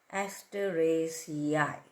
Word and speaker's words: Asteraceae: The Zinnia flower belongs to the Asteraceae family, spelled at Asteraceae, pronounced as Asteraceae family.